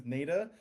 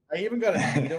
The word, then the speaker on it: Neda: My name is Neda, pronounced like Neda. I know, contrary to popular belief, it's Neda, or I even got a Nita one time, and I'm like, you know what?